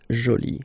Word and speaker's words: jolie: and then you get Jolie okay so you can see that you put this but then you don't pronounce it okay so it's Jolie so basically the two